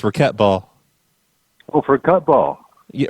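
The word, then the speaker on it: racquetball: pardon it's raet ball it's not racketball it's raquet ball oh for cut ball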